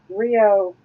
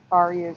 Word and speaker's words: REO: concerning uh eight track tapes and the band Rio Speedwagon sticker oh yeah cargo it's pronounced sorry yeah just to let you know REO Speedwagon oh all right okay yeah this is